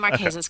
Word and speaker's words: Marquesas: remote part of the world where are the maresas and first of all am I saying it correctly yes you are saying the maresas correctly it is about I'm going to say